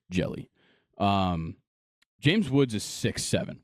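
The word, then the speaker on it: Hjelle: James Woods uh and Giants relief pitcher Sam jelly is how you pronounce it it's h j l l e interesting pronounced jelly um James Woods is 67 which is already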